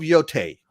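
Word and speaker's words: Yōtei: say it ghost of yote right let me let me spell it out here so it's pronounce yo like yoyo yo t a y t that's right right ghost of yote so uh this is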